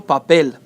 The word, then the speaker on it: papel: If it ends with a consonant or other than N or S, we put it on the last syllable. Por ejemplo, papel.